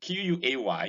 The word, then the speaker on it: quay: QUAY is pronounced exactly the same way as KEY.